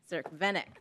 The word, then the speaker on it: Cerkvenik: Cerkvenik. I was doing an I at the end.